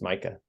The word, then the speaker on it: Micah: All right, and I'm assuming it's pronounced Micah. Yes.